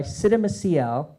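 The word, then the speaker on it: Csikszentmihalyi: This is Flow by Siddha Maciel. That's how you pronounce that.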